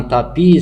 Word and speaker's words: tapis: Un tapis se termine par S. Donc, je dois écrire le S et ne pas le prononcer.